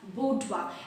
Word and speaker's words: boudoir: parsonage right from her boudoir now this word budwa actually it is a french word okay it is a